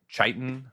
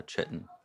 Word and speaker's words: Kytin: So I protection I pronounced it chitan for a very long time. Um if it I believe if it is ch Mhm. It is uh chitten. No that's not right. Rhymes with kitten.